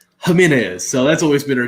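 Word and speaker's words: Jiménez: name was jimenez and my dad always pronounced it jiminez because the jade i'm like jiminez come on dad that's jamin is so that's always been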